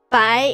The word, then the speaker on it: 百: Yeah, bai is like pie. But they don't sound really similar. So if you have a chance, try to say it correctly.